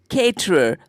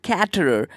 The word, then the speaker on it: caterer: is freakin crazy because it is CA te reo that is caterer but people often pronounces that quatre quatre it is weird